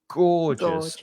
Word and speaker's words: gorgeous: and you say this this view is absolutely gorgeous and you stress that first syllable go gorgeous just two